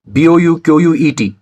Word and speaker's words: bouquet: asked in the beginning well e-p-i-t-o-m-e is epitome b-o-u-q-u-e-t is bouquet and the word c-h-a-o-s is pronounced as chaos do you want to know